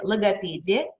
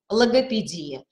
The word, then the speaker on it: логопедия: называются у нас лексикографии то там а будет у нас написано следующее логопедия и логопедия когда мы видим вот это и это значит перед нами равноправный вариант то есть мы можем